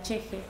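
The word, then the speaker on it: ch'ixi: bueno trabajar brevemente la cosmovisión de la epistemología cheje que es un término aymara después eso lo lo vamos a desarrollar se pronuncia así me miré conferencias para ver cómo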